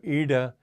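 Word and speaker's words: Iḍā: DOT under the I and the way to pronounce that that D with the dot under is you have your tongue at the back and push it forward so Ida and pingala anyway it's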